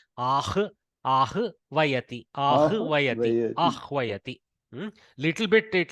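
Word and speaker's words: आह्वयति: See, this can be, you can pronounce this as avhayati, but avhayati is very impossible to pronounce. Putting the vakara before the hakara is impossible in the mouth. So here we keep the garbhastha shishu vakara as first mother and then baby. So we do ahvayati.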